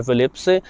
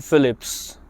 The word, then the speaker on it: Philips: हैं सबसे पहला तो फिलिप्स जो शब्द है इसका उच्चारण जो डच भाषा है हॉलैंड की कंपनी है फिलिप्स उनके यहां फिलिप्स का उच्चारण होता है फिलिप्स फिलिप्स हम इसको फिलिप्स बोलते हैं फिलिप्स फिलिप्स की